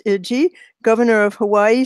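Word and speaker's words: Ige: David, I think it's pronounced Iji, governor of Hawaii, said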